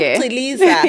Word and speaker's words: Chiliza: Oh, is it pronounced Chiliza?